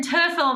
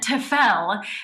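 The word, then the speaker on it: Terfel: and again the pronunciation i would say brin turtle because that's how everyone said it but then lately it's been tefel and there has been a correction through the classical waves um so i just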